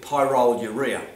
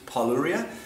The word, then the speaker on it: pyroluria: suppose I have to comment on is my pronunciation of the word Paulo Rio I initially called it Tyrol urea now in my defense I when we did